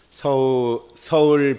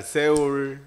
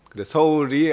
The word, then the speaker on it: 서울: 제가 또 주제 강의도 서울 100년 쏘울 100년이라는 그런 주제로 주제 강의를 했습니다 그래서 어저께 주제 강의에 서울이 서양 사람들은 서울 발음을 못 합니다 그냥 뭐 옛날 새울 쏘울 이렇게 발음하죠 바른기호상으로 솔로 발음을 하게